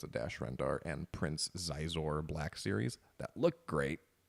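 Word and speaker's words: Xizor: Actually, I'm pretty sure it spells it phonetically Shizor a few times. I think it's I think it's canonically Shizor.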